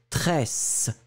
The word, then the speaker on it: tresse: Le A, encore une fois, un son très très fort du S, tresse, s, d'accord, tresse.